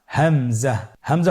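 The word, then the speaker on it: همزة: পরবর্তী হরফটির নাম হামজা। হামজা হরফটি উচ্চারণের ক্ষেত্রে বারিক করে উচ্চারণ করতে হবে এবং এখানে টেনে পড়া যাবে না।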